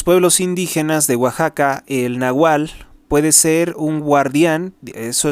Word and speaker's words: nahual: la palabra nagual que se pronuncia como W Nahual a pesar de que en México casi no se usa la W Por cierto eh sería